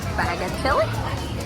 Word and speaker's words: Bagatelle: We are walking into the way that I would pronounce it would be bagatelle.